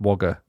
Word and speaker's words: Wagga: Which we've talked about before cuz it's spelled Wagga Wagga, but it's pronounced Wagga.